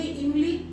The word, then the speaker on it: इमली: और ये हो गया इमली। बाजार जा रहे हैं, जरा सा बाजार जा रहे हैं, इमली लेते आएगा, इमली। इजीली निकल गया, कहीं जोर लगाने की जरूरत